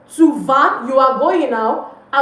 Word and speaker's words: vas: It's not vas. Don't pronounce the S.